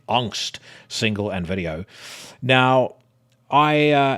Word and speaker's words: Angst: The first headline that is grabbing my attention: Rammstein premiere Angst, or if I were to use proper pronunciation, Angst, single and video.